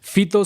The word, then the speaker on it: Fyto: Fito se escribe con Y de yuca, F-Y-T-O, Fito.